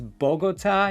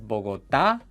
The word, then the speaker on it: Bogotá: She says Bogota instead of Bogotá.